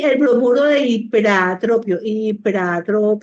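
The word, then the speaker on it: ipratropio: Y el bromuro de hiperatropio, no se dice hipatropio, se dice hiperatropio.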